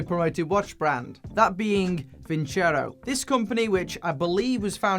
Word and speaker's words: Vincero: And yes, it is pronounced Vincero, even though I've seen many people pronouncing this Vincero or Vincero.